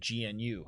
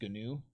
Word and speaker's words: GNU: GNU. Okay, that's how it's pronounced. GNU. Uh yeah, they slipped syllable in there on us.